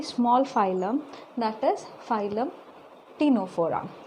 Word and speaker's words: Ctenophora: It is very small phylum, that is phylum Ctenophora. Here C is silent. Okay, how to pronounce Ctenophora?